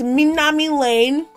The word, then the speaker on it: Minami Lane: to be playing this new game called Mami Minami Lane I'm sorry if I'm pronouncing it wrong I should Google Translate to see how it sounds excuse me Mami wow Mami meami ooh ooh okay it's Minami Lane it's a new game that just came out